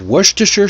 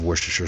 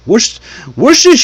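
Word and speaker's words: Worcestershire: I love worstershure sauce. Worst sauce. That's what I used to say when I was a kid.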